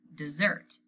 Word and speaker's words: dessert: he wants to hear which was the word dessert not desert everything else goes right